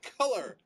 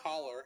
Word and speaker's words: color: That's how you say color. That is how you say it. Color. Not collar.